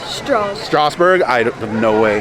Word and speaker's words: Strasburg: Strass or Strauss? Strasburg.